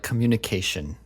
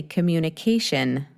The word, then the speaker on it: communication: a word a word like communication right sh communication sh and in fact you can some people you'll notice if you listen to many different speakers of English you may notice that in North America we actually sometimes use an I like as in sit and we might even say communication Shin so Shin yeah Shin shun Shin or Shin both are correct mhm y y good